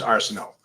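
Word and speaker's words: Arsenault: l t is how and it would be pronounced Arsenal um so that's really cool I like that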